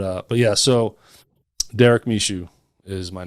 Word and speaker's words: Michaud: it's m-i-c-h-a-u-d yes m-i-c-h-a-u-d machine mishu some people say mishu some say misho it's